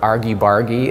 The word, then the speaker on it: argy-bargy: domestic artist wake up is this our geek argy-bargy is that how you say it yes exactly